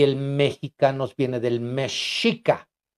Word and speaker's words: mexica: Y el mexicanos viene del mexica. En ese entonces, la X se pronunciaba como sh, como SH.